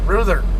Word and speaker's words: Ruther: And they actually pronounce it in the YouTube clip, Ruther, not Ruther. So, and it made sense because most languages, including Queen's English, traditionally the vowels are only pronounced one way. The U is only pronounced oo. Not you, not or anything else. It's just oo.